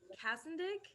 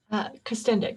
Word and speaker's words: Kastendick: Um, yeah, today we are pleased to be joined by Kastendick. Am I pronouncing it correctly? Kastendick, but it's Kastendick, fine.